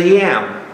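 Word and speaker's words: ים: This is a yam. Y-A-M. So put in there yams.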